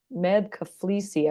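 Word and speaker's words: Meb Keflezighi: I get to sit with Annika Sorenstam Mm, and a former US marathoner, Med Kaflisi, I believe is how you pronounce his name.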